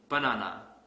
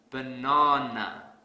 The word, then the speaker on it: banana: program here's another example let's say I pronounce this word has banana this is incorrect because I don't stress the second syllable so to fix this I will stress the second syllable really hard banana banana the sad